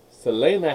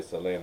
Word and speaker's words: Selena: I started, Selena had died. I say Selena, I don't say Selena, that's English pronunciation.